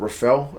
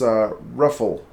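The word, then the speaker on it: Reffell: Rafael, oh no, it's not Rafael, it's Ruffle. Had a pretty good, something that rhymes with truffle.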